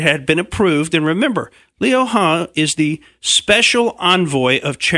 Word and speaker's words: Liu He: And that's apparently the way that you say what I would say is Liu He, but it's Liu He. It's the correct pronunciation.